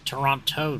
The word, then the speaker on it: Toronto: It's Toronto, dummy.